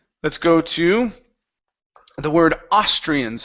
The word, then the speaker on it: Austrian: go to the word austrians so the the stresses at the beginning okay and we're also